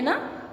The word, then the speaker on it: knee: K, देखिए के हम लिखते तो है बट we don't pronounce it. ठीक है, हम प्रोनाउंस नहीं करते, हम इसकी साउंड एन से स्टार्ट करते हैं. ठीक है, नी. हेयर के इज साइलेंट.